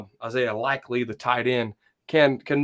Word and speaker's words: Likely: do you say that last name isaiah likely likely that's right okay 6'4 241 pounds joe he